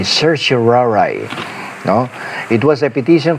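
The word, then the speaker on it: certiorari: Sir Surari ang tawag diyan ng isang ordinaryong ah tao pero sa aming nasa legal profession ang pronunciation namin diyan ay Sir Shiraray no.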